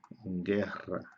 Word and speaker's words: guerra: que la que suave por ejemplo la palabra guerra guerra o la palabra un nombre propio por